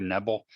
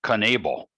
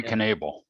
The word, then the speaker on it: Knebel: think i have the i always said corey neville i'm looking up on baseball reference and it looks like they pronounce them as conneble yeah corey knebel yeah i've heard so